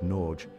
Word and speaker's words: Norge: of the Norwegian landscape think of the G as a gentle bridge between the no and the final e it's not entirely silent